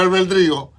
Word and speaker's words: albedrío: libre albedrío es que se escribe albedrío. Albedrío. Sí, yo no pronunciaba mal, albedrío, y es albedrío. Porque hay mucha gente que mete la L en otro lado y entonces habla albedrío, ¿no? Otros le quitan el acento y dicen albedrío, no, es albedrío, ¿ok?